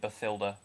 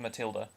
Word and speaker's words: Matilda: song i wrote i i really don't know why they pronounced it befilda because that's not how you say it i know matilda in the roald dahl books didn't have an h yeah but but it can't be it can be spelled that way but it's still pronounced matilda yeah so yeah i